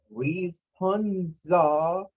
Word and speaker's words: responsible: Luego encontramos la siguiente en bill, que de hecho esta es la sílaba tónica de esta palabra. Es la sílaba que lleva, digamos, la mayor fuerza de voz. Responsible, responsible.